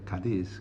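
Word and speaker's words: Cádiz: west coast of Andalusia that is spelled c a d i z kadis Kad and this is a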